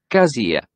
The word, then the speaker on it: cassia: I don't think it's ever pronounced like that. Cassia. It's not Gaza. Cassia. It's Cassia.